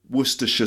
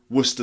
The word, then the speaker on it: Worcestershire: called Worcestershire Worcestershire sauce it's actually two ways of saying it you can do the full way Worcestershire sauce and some people say Worcester sauce so Worcestershire becomes Worcester passed the Worcestershire sauce